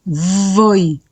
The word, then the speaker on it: voi: Noi, voi, la v se pronuncia fuerte, escuchen voi, ¿sí?